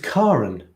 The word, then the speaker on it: Karen: strange okay hang on my name is pronounced with car at the beginning not care it's apparently the norwegian pronunciation karen karen karen karen karen karl so it's karen karan that's nice i